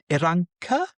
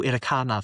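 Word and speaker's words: Irranca: And Hugh Iranca, I think I've been calling him Hugh Iracana for some reason for a while, yeah, until about 20 minutes ago when I realised I was saying it wrong.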